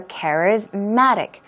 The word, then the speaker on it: charismatic: and it becomes charismatic so charismatic the stress goes on care as well but a stronger stress goes on mat charismatic charismatic okay means